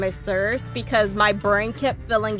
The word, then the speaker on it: Circe: Circe, I think is how you pronounce her name, Circe. Or Circe. I like Cersei, so I'm gonna go with Cersei. There we go.